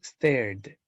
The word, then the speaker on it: stared: Stare, stare, termina con sonido R. Por lo tanto, al pasarlo de D, tendría que pronunciarlo stared. Stared.